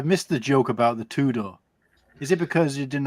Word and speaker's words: Tudor: So it's actually pronounced. Imagine like the first four letters of Chewbacca. It's actually Tudor. What? Tudor. That's how you say it. Tudor. You don't say the T? Tudor? No, Tudor. Oh, Tudor. No, like chew.